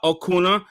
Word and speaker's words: Acuna: of all i'm gonna bring in miss uh okuna uh i hope hopefully i'm pronouncing her name correctly um am i pronouncing your name correctly yes kirsten and then hakuna yeah okay well it's so so uh so